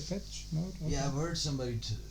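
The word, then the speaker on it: Depeche Mode: m o d e isn't it pronounced in the petchey mode the bets the bets the patch the patch mode yeah i've heard somebody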